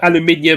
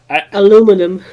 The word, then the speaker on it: aluminium: I suppose it's like with aluminium and Aluminum.